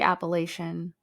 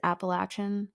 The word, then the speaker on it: Appalachian: I guess it is Appalachin. I don't know. But I've heard it both ways. I never either. But someone in Alabama was like, "Oh, of course you'd say it like that cuz you're not from here."